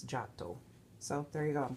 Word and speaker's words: Giotto: de Beaune you know I know most of us would want to say Giotto but it's Jack doe so there you go